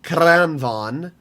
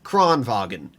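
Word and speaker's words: Kranvagn: There's a lot of people that try to pronounce the Kranvan as Kronvagn, and it irritates me so much.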